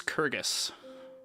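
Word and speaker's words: Kurgess: feldrin major deity of this region is shellin it's spelled s h e l y n minor deity for this region is kyrgys spelled k-u-r-g-e-s-s Pacific region specifically is known as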